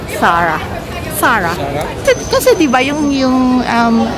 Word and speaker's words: Zara: yung Zara na store It's Spanish so it's actually pronounced as sara sara kasi ba yung yung